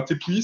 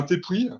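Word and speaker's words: tepuy: Un T'épuis, qui s'écrit T-E-P-U-Y, c'est un terme de géographie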